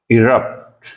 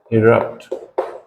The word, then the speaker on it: erupt: Next word है हमारा इरप्ट, इरप्ट। और इसकी प्रोनाउंसिएशन देखें पहले, तो प्रोनाउंसिएशन है इसकी यहाँ पे एक्सेंट है इरप्ट, इरप्ट, इरप्ट।